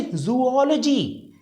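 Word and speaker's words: zoology: इसको हम बोलेंगे जूओलॉजी, जूओलॉजी। अब आप जो भी प्रोनाउंस कर रहे हो वो फिर गलत होगा, नहीं तो जैसे आप बोलेंगे शायद जूलॉजी, है ना, जूलॉजी, जूओलॉजी इसको बोलेंगे हम, अदरवाइज रिजेक्शन।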